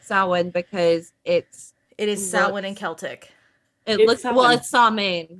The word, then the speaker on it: Samhain: Samhain, Samhain, which is the actual holiday, is pronounced Samhain. Say it one more time. Samhain. Samhain. Okay, I got it. I'm Samhain, still going to Samhain. call it Sam Hewen, but it's fine.